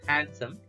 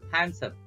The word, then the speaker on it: handsome: Now here are a few expressions like using you are awesome, you are so handsome, not handsome, you are so handsome, D is silent, you are so cute,